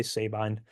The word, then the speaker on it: Sabine: years we have Wallace Sabine I've also heard it pronounced Sabin but I say Sabine um and he is